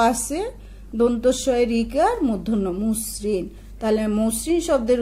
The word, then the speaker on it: মসৃণ: ময়ের সাথে একটা অ আছে, দন্তস্বয় ঋকার মূর্ধন্য মুসৃণ, তাহলে মসৃণ শব্দের উচ্চারণ হবে ঠিক এরকম ম কর্ম দন্তস্বয় হসন্ত দন্তস্বয় ঋকার দন্তন্য মসৃণ।